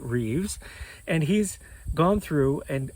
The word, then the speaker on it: Rives: a gentleman named Richard Rives uh but I think he pronounces it Reeves and he's gone through